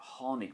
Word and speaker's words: tháinig: Next we have TH. This is pronounced like a H sound. So it's a H. And an example would be hit me, as in I fell, hit me. Or tháinig me, I came.